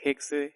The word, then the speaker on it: Hexe: el Alemán cuando hay x pues no se pronuncia sino como que se corta en vez de decir hexe es H Okay y el francés se refiera